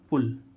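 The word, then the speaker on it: pull: भी होता है कुछ वर्ड में य का उच्चारण उ भी होता है जैसे हम देखें पी यू डबल एल पुल पी यू डबल एल पुल पुल मींस क्या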